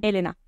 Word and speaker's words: Elena: no me conociera e en realidad pronuncia mi nombre con la tilde en la primera e en italiano Entonces sería Elena pero ya me estoy